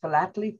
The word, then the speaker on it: philately: Philately? Philately? Philately, and yes, I am a philatelist, and philately is the correct pronunciation.